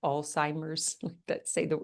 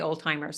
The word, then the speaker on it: Alzheimer's: We were just talking about dementia and I never say this right, Alzheimer's. Correct me if I say it wrong. I used to say old timers, so I've gotten a little bit better.